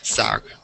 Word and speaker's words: SAG: A-G is in a word, so it's SAG.